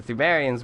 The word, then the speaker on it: Pthumerians: We're called the Pthumerians. They have a P in front, but the P is silent, just like a pterodactyl pissing. Anyway, the Pthumerians were the previous race of humans here before Yharnam was built on top.